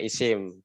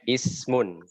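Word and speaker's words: اسم: apa ini bacanya mesin-mesin Kalau bahasa Indonesia dibaca Isim Kalau bahasa Arabnya Ismun Ismun ya sebenarnya namanya Ismun belum saya mohon Hai Ate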